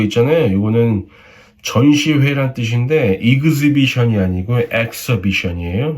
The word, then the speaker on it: exhibition: 이거는 전시회란 뜻인데 exhibition이 아니고 exhibition이에요.